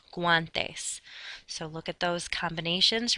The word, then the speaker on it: guantes: However, if you do have the letter combinations of GUA, then you can make the W sound gua, like for gloves in Spanish, guantes.